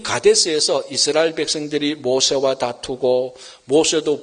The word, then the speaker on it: 가데스: 그런데 이 가데스에서 이스라엘 백성들이 모세와 다투고 모세도 분을 품고 이스라엘 백성과 모세가 하나님과 다투게 되고 이런 다툼과 싸움과 갈등이 생겨서 이 장소가 머리바가 되어버렸습니다. 이 가데스의 뜻은요, 히브리어로 발음하면 카데스입니다. 카데스의 원단은 카도시인데요.